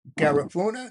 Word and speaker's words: Garifuna: A child of Garifuna, did I pronounce that correctly?